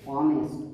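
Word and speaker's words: honest: এটা কি অনেস্ট, অ, হনেস্ট নয় অনেস্ট, অ, এন বসবে।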